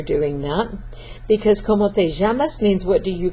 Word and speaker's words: llamas: Be careful when you're doing that, because ¿Cómo te llamas? Means what do you call yourself, but if you make that where you don't pronounce that just strong enough, it may sound like ¿Cómo te amas? How do you love yourself?